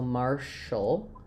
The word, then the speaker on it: martial: So I just would rewrite that again with a r mar. And then here's a case where ti has the sh sound and the letter a just says a awah or it's very very reduced. So marshall.